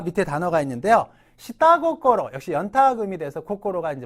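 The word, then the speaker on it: 下心: 다 기억해 주셔야 돼요 자 밑에 단어가 있는데요 시따 고꼬로 역시 연타이 돼서 코고로가 이제 마음인데 타음 붙어서 시따 고코로가 됐죠 이때시다 속마음 할 때 시다로 읽는다는 거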